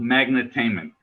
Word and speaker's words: Magnitainment: the name it's called magnitainment which is a magnet and entertainment so we combine the